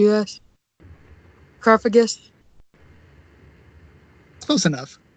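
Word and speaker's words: Cofagrigus: o f AG r IG us G yes car Fergus close enough coffee grievious or there's there's other ways to pronounce it but that's just how I pronounce it I've heard coffee Garrigues cup agreed just one that crystal and I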